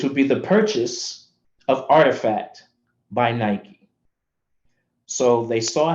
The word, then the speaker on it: RTFKT: And a company named Artifact, spelled RTFKT, but pronounced Artifact, had been around for a couple of years playing in the space, doing digital sneaker collectibles.